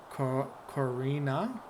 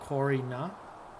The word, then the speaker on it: Karina: Karina, not Corina.